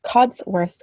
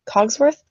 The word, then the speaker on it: Codsworth: tough so I had Cod's word what codsworth with me Cogsworth codsworth i keep calling him Cogsworth like from Beauty and the Beast do you guys have